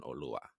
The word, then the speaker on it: Oluwa: Oluwa, yeah.